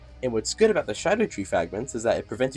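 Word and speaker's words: Scadutree: It's pronounced Shadow Tree, I don't know why. It's spelled Scadu, I don't know, it's weird.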